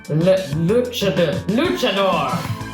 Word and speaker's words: luchador: A large luchador in a pink power suit stands in front of you.